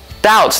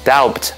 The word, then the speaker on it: doubt: Doubt 这个字就是怀疑的意思，但是大家要注意哦，虽然这个字的拼法里面有一个 B，但它是不会发音的哦，所以千万不要发成 doubt，是要发成 doubt 才是对的哦。所以啊，如果你对某件事情觉得很怀疑，你就可以说 I doubt it，或者例如你不知道某个人是不是在说实话，这个时候你也可以说 I